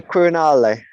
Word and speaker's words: Quirinale: And tell me again how you pronounce the name of it. The Quirinale. The Quirinale Hotel.